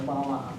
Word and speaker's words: balam: a jaguar, and then it's pronounced as a jaguar, balam, okay?